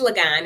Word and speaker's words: Ligon: And to piggyback off of what Miss Ligon, did I say it right? It's Ligon.